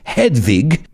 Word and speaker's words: Hedwig: born in vienna austria her real name is hedwig which if you want to pronounce it correctly it's hedvig i don't think it's